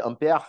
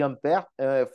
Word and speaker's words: Ampère: Inclusive, eu falei Ampère, né, só que foi sem querer, né? Mas é a pronúncia do nome dele. O André-Marie Ampère era francês, tá? Então ele tinha essa pronúncia mais é, fancy, né? Mais chique, assim, de francês.